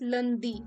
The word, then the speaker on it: lundi: So Monday is pronounced as lundi.